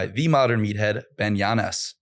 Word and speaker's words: Yanes: I think it's kind of funny, but it is funny how everyone just assumes it's Yanes. You need like a little accent on the end or something, like Yanes.